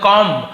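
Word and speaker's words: comb: बहुत सारे वर्ड जैसे कॉम कंघी को हम बोलते हैं कॉम बट वो कॉम है कॉम बी बोलने की जरूरत नहीं है तो वहां पे बी साइलेंट होता है एम के साथ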